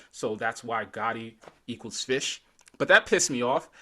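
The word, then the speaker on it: ghoti: It's called Gotti, but it's really supposed to be fish because of the way you you can phonetically pronounce GH having the F sound in a word like enough. O, the way that sounds in women, and TI in nation kind of has the ish sound.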